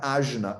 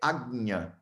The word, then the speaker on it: ajna: Então, por exemplo, o chakra do meio da testa vocês falam ajna, ajna. O nome dele não é ajna, é agnya.